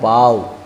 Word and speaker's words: beau: लेकिन दूसरा वर्ड देखिए आप, BEAU, इसको, ये भी फ्रेंच का ही वर्ड है, इसका उच्चारण होता है बाव, और बाव का मतलब होता है हैंडसम पर्सन।